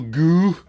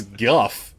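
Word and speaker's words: Gough: goo playing alfred pennyworth that's how he pronounces it himself too i got michael goo goo michael goo i don't i don't think it's guff g-o-u-h yeah he pronounces it like he's about to fall off the top of the building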